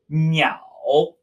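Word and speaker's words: 鸟: Our first character for today is the character for birds, pronounced meow, meow, dipping tone, meow.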